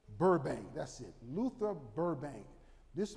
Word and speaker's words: Burbank: a man his name was called luther barnbark no barn bank i better pronounce it right his name is called luther burbank that's it luther burbank